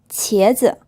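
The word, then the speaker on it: 茄子: 茄子 This is pronounced with a second tone, and then the second syllable is unstressed.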